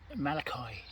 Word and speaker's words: Malachi: So here we have Richard, youngest son of, is that, how do you pronounce that? Malachi. Malachi and Elizabeth Davy.